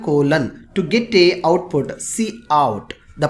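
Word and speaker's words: cout: STD standard colon colon to get a output see out the pronounce cre ation of see out is called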